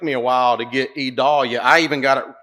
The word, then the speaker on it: Idalia: Hurricane Idalia, as all of you know, and by the way, that is Vidalia without the V.